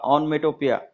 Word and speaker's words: onomatopoeia: उच्चार लक्षात ठेवा, ऑनमेटोपिया. स्पेलिंग पण लक्षात ठेवा.